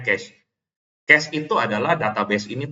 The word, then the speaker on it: cache: Apa itu ini bacanya orang Indonesia baca KC ya. Sebenarnya case.